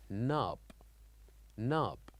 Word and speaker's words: knob: n o b like knob knob so the K here is silent so we write K